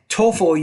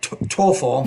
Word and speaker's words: TOEFL: say the word TOEFL TOEFL you want to pronounce that the tea with more air - TOEFL you I feel good